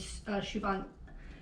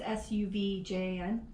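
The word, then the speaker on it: Sufjan: was this artist named Siobhan, I'm going to mispronounce his name, Siobhan Stevens? I think I'm pronouncing his first name right. Siobhan Stevens. It's Suvjan.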